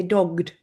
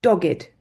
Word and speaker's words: dogged: it's not hanging straight we also say dogged okay we don't say dogged we say dogged for meaning determined so her dogged determination